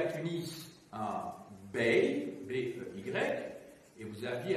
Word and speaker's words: Bey: Vous aviez à Tunis un Bey, B-E-Y, et vous aviez à Alger un Dey, D-E-Y, un D, un B, un D, pour être audible que j'ai les prononcer en distinguant donc les voyelles.